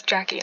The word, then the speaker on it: Jacque: dabao she was like oh no it's Jackie I'm like of course so I was like I need to make that correction before I like make this video because that'd be really weird first pronouncing the character's name so this is Jack